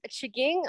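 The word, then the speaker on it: M'Chigeeng: to you uh from chiging on manitoulin island and if you are looking for jaking on a map of manitoulin island the m is silent it's m apostrophe c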